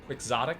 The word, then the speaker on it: quixotic: elixir by the way quixotic of course comes from don quixote but for some reason the word is not pronounced quixotic it's pronounced quixotic which always annoyed me